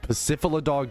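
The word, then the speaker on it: Pacifidlog: You want to head over to Pacifidog Town.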